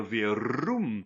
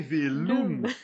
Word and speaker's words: Verum: italien il y a Verum Ah en oui, faisant la rouler, prononciation. elle va dire Ave Velum, elle va mettre un Ah L.